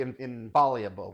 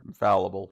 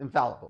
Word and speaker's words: infallible: uh are are truly infallable is that the word infallible infallible yes I I knew the word I just didn't know how to pronounce it correctly so but um you